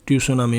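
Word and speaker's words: tsunami: English में ऐसे लिखा जाएगा, टी साइलेंट है, सुनामी मतलब कि सुनामी।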